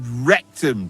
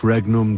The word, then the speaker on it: regnum: You're saying it wrong. Listen. It goes like this. Pater Noster, qui es in celis, sanctificetur nomen tuum. Adveniat regnum tuum, fiat voluntas tua, sicut in celo et in terra.